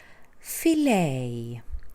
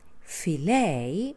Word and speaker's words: filet: it's a diphthong oh filet filet is a word like ballet they are stressed on the second syllable ballet there of French